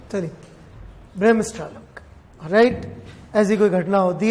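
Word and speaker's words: Bremsstrahlung: सबने सुन लिया प्रोनाउंसिएशन? चलिए, ब्रेमस्ट्रालंग, राइट।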